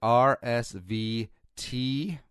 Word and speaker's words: RSVTEA: Visit RSV tea, and the T is in tea, like the beverage, T-E-A.